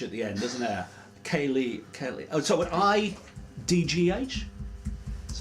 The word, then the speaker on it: Ceilidh: C-E-I-L-I-D-H. There is no G. G. And it's an I. Kaylee.